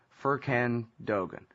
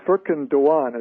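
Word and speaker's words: Furkan Doğan: Israelis executed US citizen firkin Dogon welcome to show Gareth please correct my pronunciation this poor young dead it is freaking Dhawan as I understand it in in terms of the Turkish pronunciation mean he he of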